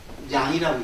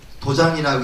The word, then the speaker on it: 도량: 많이 쓰는 게 이제 요걸 장자를 불교에서는 이걸 도량이라고 읽습니다. 도량이라고 불교 집안에 가면 저걸 갖다가 도장이라고 있죠. 도량이라고 읽어요. 뭐 관음도량, 뭐 지장도량 이렇게 도량이라고 읽습니다. 이건 틀리면 안 됩니다.